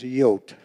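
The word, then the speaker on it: Jood: And in Holland or the Netherlands, it was Yote. J O O D.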